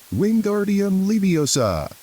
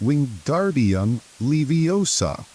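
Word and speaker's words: Wingardium Leviosa: arms like a windmill you're saying it wrong Harry heard from by any snap it's Wing G young leosa make the gar nice and long you do it then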